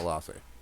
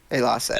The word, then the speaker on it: Elasse: Let's E's are pronounced as A's. Yeah. It's the way you can remember it. Yeah, Elasse. Elasse.